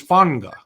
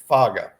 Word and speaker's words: Faga: Yeah, and at one time we thought it was Fanga. Yeah, one time, yeah, because the N thing that we often see with the players from the Polynesian pronunciations. But no, it's Isaia Faga. Yeah, they like to do. They don't do silent letters. They do loud letters that are invisible.